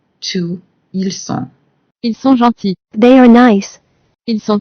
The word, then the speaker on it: gentils: As a rule, we don't pronounce the final S in French, but we have to add it to reflect the plural form with ils sont.